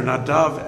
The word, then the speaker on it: Nadav: okay by the way if i revert back into hebrew uh their names are nadav and avihu so forgive me if